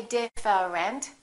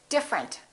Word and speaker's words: different: look at this one we don't say different we say different the e disappears different here are a couple